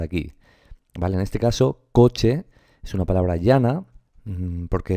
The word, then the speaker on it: coche: Por ejemplo, cuando yo digo coche, estoy pronunciando en 2 golpes de voz, ¿verdad? En 2 sílabas. Coche. Digo coche o coche. Digo coche, ¿verdad? Pues coche sería la palabra, el acento recaería sobre la sílaba co, ¿de acuerdo?